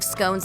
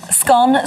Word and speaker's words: scone: 2016 survey found that 51 of britons pronounce it to rhyme with gone whereas 42 percent pronounce it to rhyme with bone the former is a